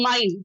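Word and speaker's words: mine: जैसे कि अगर आप एप्पल, अगर आप लिख रहे हो माइन, तो M और N आप ब्लैक में लिख लो, I को रेड में लिख लो, वॉवेल है, लेकिन E को आप क्या करो, ग्रीन में लिखो। क्यों? ये साइलेंट है, इसको पढ़ना नहीं है, तो आपको हैबिट होगी,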